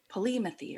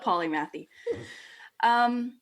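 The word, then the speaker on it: polymathy: way yeah polymath II I have the British say it different like Polly methey or something like that but okay Americans call it polymath II so basically what that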